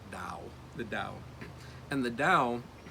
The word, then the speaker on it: Taoism: It's spelled with a T, Taoism, but it's pronounced more like a D sound, like Tao, the Tao.